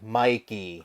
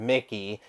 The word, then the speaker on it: Mikey: please pronounce it correctly it is not Mickey it is pronounced Mikey I am not a Mouse